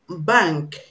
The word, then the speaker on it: bank: have actually we have bank bank i told you when you have n k together in a word you pronounce the n before k as um so this is the